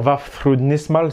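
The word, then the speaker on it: Vafþrúðnismál: Donc la prononciation, vous pouvez dire Vafthrudnismal si vous préférez. Hein. si vous voulez, le Thorn, c'est le TH à l'anglaise.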